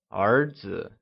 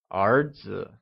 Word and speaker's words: 儿子: The word son translates as 儿子, and it is pronounced using the mid-rising tone. Can you say 儿子?